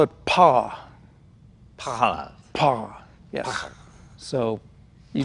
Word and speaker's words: Panhard: And it's pronounced Panhard? The French call it pas. Panhard.